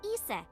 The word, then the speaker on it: Isis: horace's mom is named isis but in ancient egyptian it's pronounced closer to isa or hmm how do